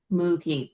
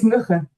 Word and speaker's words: Mugge: Ruth, who I know my English pronunciation makes me want to say like Mookie, but I have a feeling it's much more like Mugge or something like that. So Yeah, you can it's, yeah, it's Mugge.